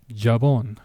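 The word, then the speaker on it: jabón: Technically, the J sounds more of an H. Or arguably for some people, depending on the country, it might sound as a soft G.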